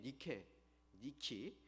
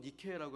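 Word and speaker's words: Nike: 알렉산더 대왕의 이복누였던 데살로라는 그 이름에다가 승리의 여신인 니키 여신의 이름을 붙여서 데살로니키라고 부른 것입니다. 니키 혹은 니케라고 하는 이 여신이 영어로 발음하면 나이키입니다.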